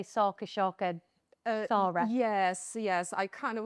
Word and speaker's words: Sharka: So yes, it's Sharka. It's basically pronounces like with shark with a at the end.